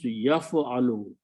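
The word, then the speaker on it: يَفْعَلُ: Ya, if I put a ya in the beginning and pronounce yaf'alu. So this brings the meaning of yaf'alu. Exactly, last letter should have a dhamma on it. First letter should have a fatha.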